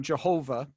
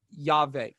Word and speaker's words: Yahweh: Why we already beat up on Jehovah as a pronunciation. So why do we say Yahweh? Well, that is the best scholarly guess. Okay, it's the best scholarly educated guess.